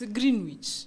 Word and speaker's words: Greenwich: How do you pronounce it? It's Greenwich.